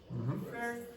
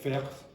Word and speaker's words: first: First significant. Can you identify that the issue is not it's like faire or it should be first.